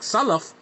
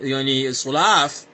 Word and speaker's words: Salaf: And if you got problems pronouncing words in, like Salaf and saying Sulaaf like this, come on, man, this is ridiculous.